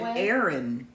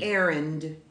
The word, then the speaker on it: errand: But they pronounced it Aaron. And when they said Aaron, I spelled it like my friend, who's my friend Aaron. They just dropped that D. Instead of errand.